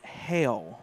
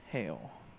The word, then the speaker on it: Hale: Number 8 is Sutton Hale, officially. Kind of like the hailstorm. So, there you go. Sutton Hale.